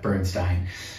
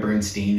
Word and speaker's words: Bernstein: would call Leonard Bernstein it's a different pronunciation would be the East Coast uh Bernstein altner Bernstein is the West Coast the left no relationship